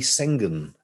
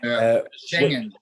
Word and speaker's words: Schengen: So before the Schengen treaty, I pronounced that wrong, haven't I? Schengen. Thank you. It didn't sound right to me.